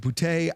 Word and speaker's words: Boutte: And Kayshon Boutte is probably is it Booty? Is it Boutte? I don't know. Either way, it looks Cajun, the way it's spelled. Yeah, Boutte. That's how I'm going to say it.